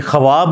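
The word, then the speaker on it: خواب: ने फरमाया 46वां हिस्सा यह ख्वाब नहीं पढ़ा जाता वैसे उर्दू में चल भी जाता है लेकिन यह लव है ख्वाब तो वह उसमें फिर साइलेंट हो जाति है तो यह जो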